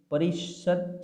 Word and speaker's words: परिषद: हशे कि अहींया जे परिषद छे, बराबर, एनुं उच्चारण कई रीते थाय छे, एनुं उच्चारण छे ने ए परिषद थाय छे, पण एमां त छे ए त, थ, द, ध अने न।